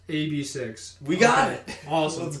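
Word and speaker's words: AB6IX: Pronounced AB6.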